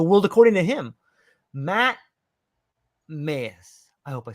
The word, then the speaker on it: Maes: and understand the world according to him Matt maze I hope I said that right did I say that right Matt you well you're pretty close maze yes maze okay so Matt maze Matt maze hold up